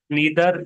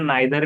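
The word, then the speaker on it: neither: उसके बाद में है next, select द correct नीदर नॉर। अब इसका प्रोनाउंसिएशन नाइदर भी सही आता है और नीदर भी सही आता है, ब्रिटिश और अमेरिकन। अमेरिकन में नीदर कहते हैं और ब्रिटिश में नाइदर, और ईदर अमेरिकन में और आइदर ब्रिटिश में।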